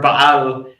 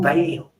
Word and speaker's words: Baal: Everyone keeps mispronouncing the word Bal and they always say, "Oh, Bale B this do that."